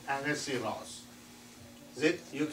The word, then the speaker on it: Ahasuerus: You may read many different names, but this is the real pronunciation, King Ahasuerus.